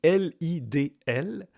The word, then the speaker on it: Lidl: Lidl, ça s'écrit L-I-D-L, c'est allemand, mais ça se prononce Lidl.